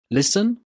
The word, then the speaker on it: listen: Listen, fasten, soften, christen. Did you hear a t sound in these words? No, you didn't, because the t in these words is silent.